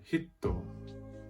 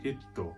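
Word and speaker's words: ヒット: means person in japanese by adding a smooth character between the he and the toe it will then become pronounced so do you hear it different and hitto means hit as in hit in japanese so can you hear the difference there's hito which is person and there's hitto you hear the difference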